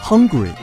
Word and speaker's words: Hungary: 匈牙利英文叫 Hungary，由于和英文的饥饿发音相似，经常被